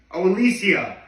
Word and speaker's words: Alessia: I'll be honest, I don't know how to pronounce that name. It's Alessia.